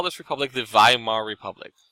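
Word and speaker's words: Weimar: call this Republic the vayam our republic spelled with the w pronounced with the v welcome to German it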